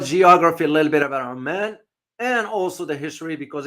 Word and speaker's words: Oman: Now, don't confuse Oman with Amman. If you notice my pronunciation, Oman is the country.